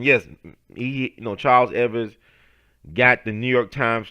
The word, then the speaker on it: Evers: You know Charles Ever took over Charles Evers. I'm sorry I got to pronounce that S.